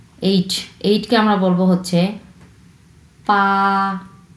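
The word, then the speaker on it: 八: এইটকে আমরা বলবো হচ্ছে পা, পা, পা, পা। এটা আবার বা বা কেউ বলবে না, এটা কিন্তু বিয়ের উচ্চারণ নয়, এটা হচ্ছে পয়ের উচ্চারণ, পা।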